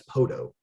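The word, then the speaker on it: Poteau: huge advantage it's like nobody would know how to pronounce podo spelled p-o-t-e-a-u it's a french name and nobody would you know be able to look at that word instantly oh yeah that's poto and you know other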